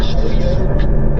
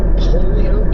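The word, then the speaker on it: Holyoke: 15 right between was that Holio is that how it's pronounced Shaden and Imperial. Holy Oak is correct. Holio got it.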